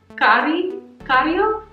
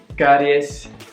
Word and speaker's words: caries: So it's not cario. Tienes caries.